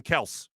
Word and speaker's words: Kelce: April, so we were talking about the Jason Kelce story and how you pronounce Jason Kelce's name. Jason Kels, his name.